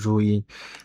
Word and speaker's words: Louis: And the interesting part of Rui is her name is like written as Louis but pronounced as Rui.